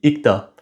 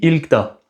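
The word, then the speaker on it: 읽다: Par exemple lire en coréen se dit ikta. Mais ça s'écrit ilta. Sauf qu'on prononce pas le L parce que vu que la deuxième syllabe da commence par une consonne, c'est difficile de prononcer le L.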